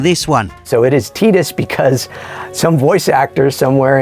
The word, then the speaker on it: Tidus: spell it wrong again on the subject of mispronunciation how do you say this guy's name I always thought it was Tidus apparently I've been getting it wrong for nearly